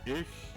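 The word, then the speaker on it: ἰχθύς: It's ichthus. Okay, so ichthus. Ichthus. That's how it's pronounced.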